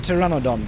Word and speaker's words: pteranodon: So, but then Glitcher Palooa, as nice as he is, decided to gift me this beauty of a pteranodon. The P is silent.